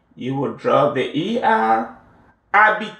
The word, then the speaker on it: habiter: Habiter. The H is silent. Habiter.